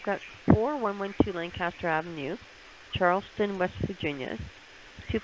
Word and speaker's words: Lancaster: with that sometimes but they always keep saying you know lane caster lane kester it's lancaster okay well i have